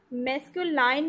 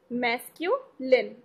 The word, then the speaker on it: masculine: ध्यान रखिएगा, मैस्कुलाइन नहीं बोलना है, इसका सही प्रोनाउंसिएशन क्या है? मैस्कुलिन, मैस्कुलिन gender.